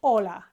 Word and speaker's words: hola: La into LA and that's not how the Spanish say hola it's a very short word Hola or is short and ah is short okay and if you